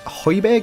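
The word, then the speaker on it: Højbjerg: But we don't really have the best of free kick takers, so we just leave Hoyberg is how you pronounce his name on it.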